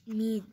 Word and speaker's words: Ms: also use মিস মিজ মিজ এটা উচ্চারণ দিয়ে দিয়েছে প্রোনাউন্স মিজ অর্থাৎ মিজ উচ্চারণ করতে বলছে এখানে মিজ জেড এর মত ওকে মানে সব নারীদের